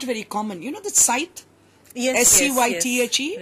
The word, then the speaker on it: scythe: You know the scythe?